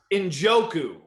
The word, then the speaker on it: Njoku: Njoku.